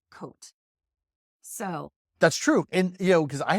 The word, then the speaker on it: Côtes: COTES is pronounced Côte. So...